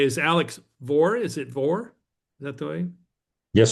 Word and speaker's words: Vohr: Is it Vohr? Is that the way? Yes, sir. How about that? All right. I always love pronouncing my guests' names correctly.